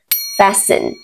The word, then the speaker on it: fasten: Thông thường letter T is silent. Trong một số trường hợp như sau: fasten, fasten, listen, listen.